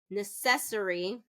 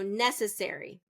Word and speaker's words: necessary: Necessory or it's second syllable stress and I I we can't have that. So necessary.